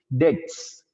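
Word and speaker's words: debts: right and डेप्ट्स सर डेप्स क्या होते है अरे लायबिलिटी डेप्स बी साइलेंट रहता है इसमें स्टूडेंट्स डेट्स डेट्स रिमन unpaid are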